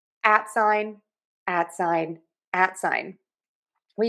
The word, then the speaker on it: at sign: This is our stress syllable, so loud, long, and high in pitch. And then we're going to add sign. That's going to be less stressed, and that's going to be a reduced syllable.